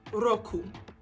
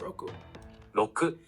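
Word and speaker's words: ろく: one is six which is roku and there's no rolled r it's just roku and it's good to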